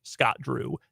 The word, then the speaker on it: Scott Drew: Does his name rhyme with Snot Boo? It does. It does. Mitch Barnhart, according to the streets, the rumor mill, loves Scott Drew.